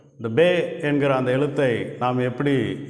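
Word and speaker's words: פא: இந்த எழுத்தை ஐன் அப்படின்னு உச்சரிக்கிறோம். கோடு இல்லாத இடத்துல எழுதுறேன் பாருங்க. லைட்டா ஒரு கோடு கிராஸ் பன் பண்றோம்.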